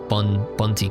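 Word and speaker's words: Bundt: Oh, the D is silent, so it's just bunty cake.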